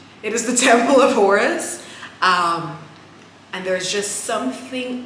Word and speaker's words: Horus: serving me right it is the Temple of orus why did I pronounce Horus so weirdly it is the Temple of Horus um and there's just something about the energy